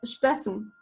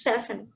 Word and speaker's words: Steffen: Is it Stephen? Like Stephen? It's a little bit differently pronounced in German. It's Steffen. Steffen? Like Stuttgart? Yeah. Yeah. Okay, it's Steffen.